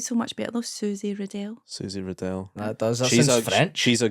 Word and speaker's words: Riddell: wrong it's actually because my name's r-i-d-d-e-l-l so it's supposed to be pronounced Riddell but like it's always just been riddle and it just feels